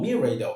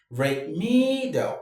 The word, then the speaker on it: remedial: It's not mirado. It's remedial.